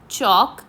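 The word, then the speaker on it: chalk: shelf चॉक again in this word चॉक there is no sound of एल एल is silent here we will circle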